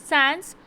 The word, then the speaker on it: sans: Sans, pronounced like sun, a French word meaning without.